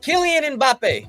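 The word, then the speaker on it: Kylian Mbappé: you can finish this out too all right killian and bape that's how you say his name uh he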